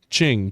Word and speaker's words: Qing: Ching. Q I N G. Okay. That's literally how it's pronounced.